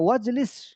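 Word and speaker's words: واجلس: ওয়াজলিস ফি মাকআদি, জালাসা ইয়াজলিসু থেকে আমরের সিগা ইজলিস, বসো, তাহলে ওয়াজি তো আসছে এই জন্য আলিফটা পড়ে যাবে, ওয়াজলিস উচ্চারণ আসবে না, ওয়াজলিস বসো, ফি মাকআদি আমার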